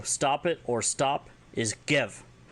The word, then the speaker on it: gev: So stop it or stop is gev, spelled G-E-V with an exclamation point.